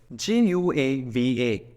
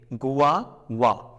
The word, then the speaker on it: guava: we read this truth just follow the spelling as it is g u a v a Goa and then okay don't